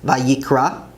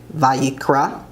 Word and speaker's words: ויקרא: Leviticus is Vayikra, Vayikra, and he called.